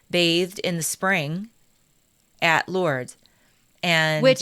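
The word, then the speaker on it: Lourdes: She went to Lords. I I say Lords even though I shouldn't. I know you don't pronounce the S, but the the village in France.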